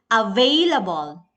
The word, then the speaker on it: available: Next is number two, available. Very good. All of you know it already. Vey. Vey is the stress syllable.